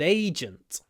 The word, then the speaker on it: agent: need a good Agent as is often the case in Russian the stress is on the second syllable again in English it's on the first syllable agent agent and because we have a j a voiced sound we put a lot